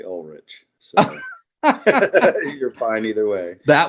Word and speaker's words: Ulrich: great by the way my brother says Ulrich I say Ulrich you're fine either way